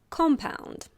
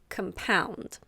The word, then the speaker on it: compound: First, we have the verb compound. Yes, the pronunciation is a little different.